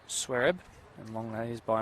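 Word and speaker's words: Xuereb: That's spelled X-U-E-R-E-B. Pronounced Swereb.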